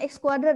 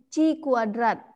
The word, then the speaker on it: chi kuadrat: Rumusnya ini bukan X kuadrat bacanya ya. Jadi chi kuadrat, chi square.